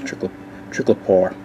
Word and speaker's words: triclopyr: I've heard it pronounced different ways, but most of the time it's Triclopar.